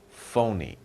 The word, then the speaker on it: phony: If something is fake, it's the same as saying phony, not real. It's fake, it's not real. It's phony, it's not real. PH is pronounced as ph, phony.